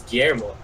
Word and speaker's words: Guillermo del Toro: Is that how you pronounce his name? Guillermo del Toro? I thought it was Guillermo.